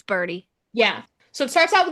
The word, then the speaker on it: Bridie: It's not, I think it's pronounced Birdie. Yeah. Because it's not Bridie. It's Birdie.